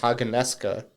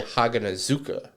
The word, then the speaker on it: Haganezuka: The dub and the sub say his name different. In the dub, they say Haganeska. In the sub, they say Haganezuka. Okay. So they enunciate the Z a little bit more.